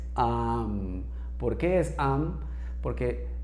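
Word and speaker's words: aum: Este amuncia a la hora de la práctica meditativa como om, sino que es am.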